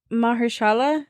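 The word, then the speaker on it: Mahershala: say it my Ali how do you say his first name Mahala yeah Ali he made he plays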